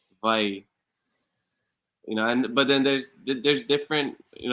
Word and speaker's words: Hawaii: So the V, or the W, is more like a V. So we say Hawaii, Hawaii.